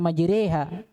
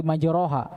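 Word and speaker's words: مجريها: taala Bismillahi majriha wursaha kata majriha harakatnya di fathah Tapi bacanya bukan di fathah dia dibaca miring istilahnya kalau dalam ilmu tajwid dibaca antara fathah dengan kasr Maha bukan di majroh maj majha Ini Salah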